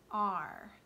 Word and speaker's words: are: are the word are this doesn't sound really anything like the way that it's spelled we don't really hear the a and the way that we normally we don't really hear the e it's not a cvce word where the e would make the a say a